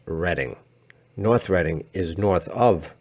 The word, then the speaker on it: Reading: It is spelled like North Reading, but is pronounced Reading.